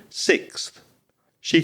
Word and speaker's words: sixths: 12th, with all fractions, it it can be a plural because there there could be five sixths and you have to add an s making it even harder.